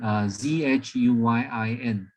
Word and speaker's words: Zhuyin: On the right, this is, I don't know whether you can recognize, this is a pronunciations. It's called Ziyin, okay, Zhuyin.